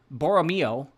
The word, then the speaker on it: Borromeo: me who cares next is House of boria boromo b o o wait b o r r